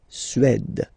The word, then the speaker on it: Suède: Suède. Remember, accent grave, it's really open.